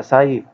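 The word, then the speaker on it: psi: Kilo pascal के पी इसका जो है वो यूनिट है और ये ग्रीक लेटर साई साई से हम इसको रिप्रेजेंट करते हैं। ये साई में पी जो है वो साइलेंट है और ये साई का सिंबल है।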